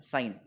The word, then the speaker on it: sine: साइन actually इसका spelling ऐसा है SINE, लेकिन लिखते वक्त हम हमेशा इसको SIN सीन लिखेंगे, लेकिन प्रोनाउंस ऐसा है साइन।